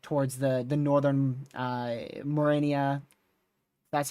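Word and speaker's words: Mariana: Uh, because it might hit towards the the northern uh, Marennia, that's how you say it, islands, and then potentially go up towards South Korea or uh, or southern Japan.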